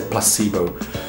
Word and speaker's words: placebo: disso é a palavra Placebo né quando eu tava estudando no Canadá mesmo palavra inglês Placebo em inglês é Placebo e eu sabia eu